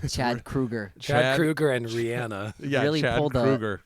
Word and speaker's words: Rihanna: Is it Rihanna? No, it's Rihanna. Oh, it's Rihanna. Yeah, but Jay-Z said Rihanna on his featured thing on Umbrella, and she's always been Rihanna.